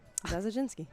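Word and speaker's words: Zadzinski: that passes to amy zadeh zinski is that the pronunciation we were just given we're trying really hard to get her name right we promise yeah that was right zaz oginski there we go black parade misses the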